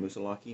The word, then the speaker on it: Moosilauke: I think is how you say it, Moosilauke, Mount Moosilauke, and it's going to be a tough one.